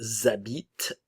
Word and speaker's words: habitent: Et pour terminer, ils habitent, elles habitent. Ok, le S de il et elle vont former une liaison obligatoire avec le son Z. Le ENT ne se prononce jamais, nunca suena esta terminación si es un verbo.